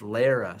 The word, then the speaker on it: Lera: yeah look oh oh I don't even know if it's pronounced Laura it's Lera sorry guys I looked